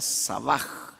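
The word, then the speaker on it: שָׂבַע: Eh eh el la h muda en el hebreo, se pronuncia como j, sería sabaj, que quiere decir lleno o satisfecho, tener suficiente.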